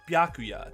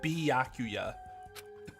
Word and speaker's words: Byakuya: a lesson you know you're saying his name wrong right it's just byakuya not byakuya pretty sure she'd ripped